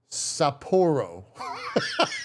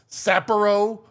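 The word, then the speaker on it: Sapporo: For this one, they were like, do not mispronounce yote. Oh, it's saporro, not sappero or like they were like you have to pronounce this correctly.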